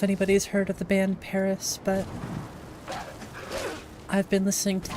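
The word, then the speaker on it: PVRIS: v r i s it's pronounced Paris but it's not spelled that way I'd say one of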